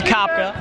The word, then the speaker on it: Kopka: As the inbounded ball comes into Jacob Kopka. I think it's Kopka actually. Kopka? Yeah, no problem, no problem. Just learning how to say their names right. Back over to Donovan Slates on him. It's Kopka.